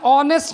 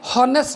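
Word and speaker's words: honest: silent एटा मु कहि एन ऑनेस्ट मैन ऑनेस्ट अ ना कि हनेस्ट नहीं हेनी आपण जो उच्चारण पढ़ला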